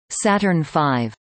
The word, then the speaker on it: Saturn V: The Saturn V, pronounced Saturn V, was an American human-rated expendable rocket used by NASA between 1967 and 1973.